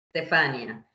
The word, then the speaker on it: Stefania: Sì, in italiano non abbiamo l'accento sulle Stefania. Stefania.